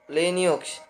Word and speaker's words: Linux: Linux, pronounced Linux, is a family of open source operating systems, which means they can be modified and distributed by anyone around the world.